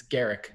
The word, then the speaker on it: Garak: that wrong go Eric I never know I always say Guerra can my head it's Garak Garak ah Eric with the